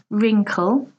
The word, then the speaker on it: wrinkle: part of your hand second wrinkle again this is quite common in English not to pronounce the W so we say wrinkle wrinkle are the fine